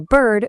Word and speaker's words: bird: And think of a bird who is a total nerd.